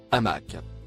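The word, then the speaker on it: عمك: rouge que vous voyez il se prononce à mac il a été interprété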